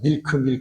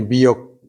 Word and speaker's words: milk: 이 밀크 발음을 잘해야 되는데, 전 처음에 미국 가서 밀크 했더니 마켓에서 못 알아듣고선 주지를 않더라고. 그래서 저기 옆에 사람한테 물어봤더니 미역이라고 그러래. 미역. 우리 미역, 그 바다에서 나는 미역.